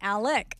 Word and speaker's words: Alex: he's an announcer dude that was doing the Alex murder one, but then he got Alex wrong. It's Alec.